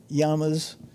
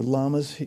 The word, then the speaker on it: llama: They're called the yamas or llamas. They pronounce them here or jamas in some places.